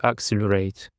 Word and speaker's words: accelerate: And for the first word, we have accelerate. Accelerate. Accelerate. The stress is on the second syllable.